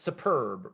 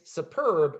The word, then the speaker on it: superb: syllable truths one syllable superb where's the stress second and i'm sort of giving it away as i say it's superb right it's superb not superb right so superb superb second syllable is stressed and how about